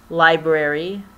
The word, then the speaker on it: LBRY: With that said, I'm on Vlr, Library, LBRY it is spelled, and BitChute, even though I have not uploaded to BitChute.